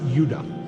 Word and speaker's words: Judah: More properly pronounced, Judah.